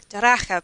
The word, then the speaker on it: Daracha: Daracha, pronounced Daracha. Daracha, CH.